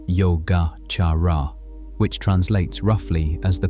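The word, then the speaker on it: Yogācāra: The school is called yoga pronounced yoga charara which translates roughly as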